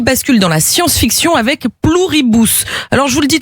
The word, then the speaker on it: Pluribus: Pluribus. C'est ça, c'est du latin.